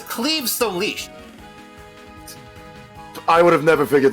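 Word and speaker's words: Claíomh Solais: Yes, in Gaelic myth, which is why the pronunciation makes no sense. It's how would you pronounce this, Kongo? Claim Soleil. Right, the actual name is Cleve Solish.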